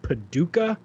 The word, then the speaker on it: Paducah: go down to uh i i believe it's pronounced paducah pink uh paducah kentucky uh if you're ever in paducah kentucky